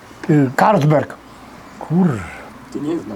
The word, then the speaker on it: Carlsberg: ma takiego piwa na Carlsberg nie a c na C No bo to można no pisze się c przez c nie A czyta się k tak zakuty łeb [